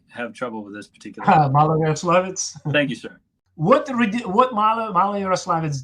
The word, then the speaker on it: Maloyaroslavets: to the Battle of, and I'll let you pronounce it since I have trouble with this particular. Maloyaroslavets.